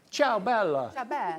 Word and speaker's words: Ciao Bella: new from Ciao Bella you've got to say it like that ciao bella bella The Farmhouse garden collection